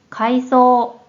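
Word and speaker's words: 階層: 할 때의 고층이 되고 다음에는 가이소 가이소 이게 바로 계층이라는 어휘가 돼요 다음에는 있어 있어 우리말로는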